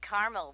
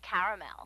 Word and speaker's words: caramel: it in caramel actually you said caramel when it's pronounced caramel can't we just call